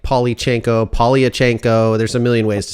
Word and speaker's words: Polyachenko: It's exactly how it's spelled. Polyachenko.